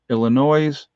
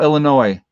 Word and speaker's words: Illinois: mesa arizona illinois oh illinois the s is silent sorry illinois uh columbus county ohio